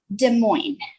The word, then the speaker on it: Des Moines: Des Moines. Des Moines. Yeah, Des Moines. No S. The S is silent.